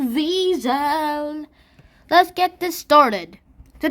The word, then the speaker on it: Wiesel: Oh, it's spelled Weasel, but it's pronounced Wiesel.